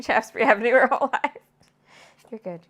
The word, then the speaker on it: Shaftesbury: Shaftesbury. Just 2 syllables, really. Shaftesbury. Shaftesbury Avenue. There you go. It's not hard, but if you've been taught to pronounce all your syllables, it feels really weird.